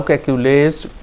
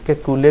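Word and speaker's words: Kekulé: अच्छा जी, उसके बाद सेकंड क्वेश्चन जो है, द क्वेश्चन हाउ कैक्यूलेज कन्फर्म। कैक्यूले भी कहते हैं इसको, कैक्यूल भी पढ़ते हैं कई लोग।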